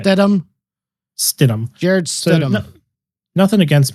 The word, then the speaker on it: Stidham: How do you pronounce the last name? Stidham.